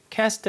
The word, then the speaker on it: cast: cast a shadow, cast a shadow. 근데 cast 이게 영식 발음이죠.